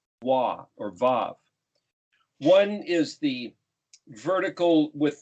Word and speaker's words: vav: is the sixth letter v a v or i spell it uaw because it sounds like both a u and a w some people don't like